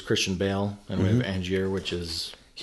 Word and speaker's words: Angier: And yeah, Angier.